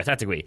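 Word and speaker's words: Taitague: We had somebody tweet or email us, I forget, and I apologize about how to pronounce that one. Tatigui. There we go, Tatigui.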